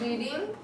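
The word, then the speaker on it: read: been I have been रीडिंग since morning good मैंने पढ़ा आई रेड आई रेड उसको रेड पढ़ते spelling वही रहेगा मैं पढ़ रही थी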